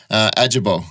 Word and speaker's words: Ajibowu: Ajibowu is how you pronounce the last name.